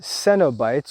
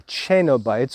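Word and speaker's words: cenobites: the first kind are the cenobytes or chanobites or cannabites depending on how you'd like to pronounce that and these are those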